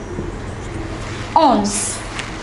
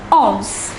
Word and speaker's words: onze: The number 11 is ounce. Look at the pronunciation carefully. It is ounce.